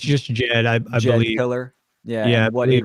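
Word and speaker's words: Djed: you say that word uh Jed it's just Jed killer yeah yeah what it represents it's symbolic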